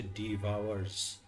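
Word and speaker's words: divorce: তো যাই হোক, এটা হচ্ছে ডিভোর্সের অ্যাকচুয়াল প্রোনাউন্সিয়েশন না। আমি যদি এটা একটু দেখাই, এসটা অ্যাড করলাম। তো টিচার বলেছে ডিভোর্স মানে এই জিনিসটা ভুল উচ্চারণ। এটা হবে, এটা হচ্ছে ডেভ, এটা হচ্ছে আওয়ার, এটা হচ্ছে ডিভাওয়ার্স।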